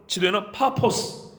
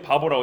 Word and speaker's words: 파포스: 가운데로 지나서 바보의 이르러 우리가 파포스 이게 원 발음이고 우리는 부드럽게 만약에 바보라고 했습니다 여기에 이르러 바 예수라는